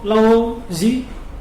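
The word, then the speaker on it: Laozi: Kalau ada yang tahu Lao Zi, Oh, Lause. ya kan bacaannya kan membacanya Lause karena kok Lause.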